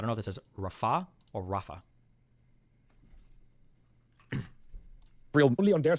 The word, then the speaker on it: Rafah: Is that how you pronounce that? Is it Rallah or is it Rallah? Or no, it's Rafah.